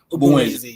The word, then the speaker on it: Ogbunwezeh: Is it Ogbunwezeh? Ogbunwezeh, yeah. Yeah. I know I did try when it comes to pronouncing.